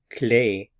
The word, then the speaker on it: clé: to note is that the word key in French is always pronounced clay however there are two